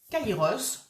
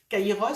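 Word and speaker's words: Kairos: il y a longtemps Kaïos c'est le moment juste le moment opportun donc ça s'écrit K a i r o s Kaïos et c'est être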